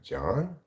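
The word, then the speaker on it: João: the YouTube it's like John J o a o is pronounced John I don't know how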